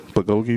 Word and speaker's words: bulgogi: Bulgogi meat.